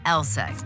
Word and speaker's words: LSEG: be a bit misleading take ours for instance pronounced elek AKA London Stock Exchange group sure we're in